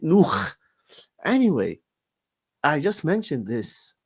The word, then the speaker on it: Nuh: of them, this Raza, pronounced Nuh as Nu. Nu. And what does Nu mean? And then he changed it due to me and made it Nuh.